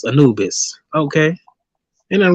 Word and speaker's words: Anubis: But now I know it's Anubis.